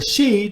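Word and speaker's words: sídhe: or or si silly or city uh or she depending on how you want to pronounce it she is actually the pronunciation but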